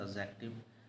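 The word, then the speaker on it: adjective: इसको पढ़ते हैं एडजेक्टिव। डी साइलेंट है ना?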